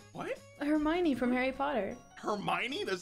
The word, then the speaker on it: Hermione: Hermione? That's how you pronounce that?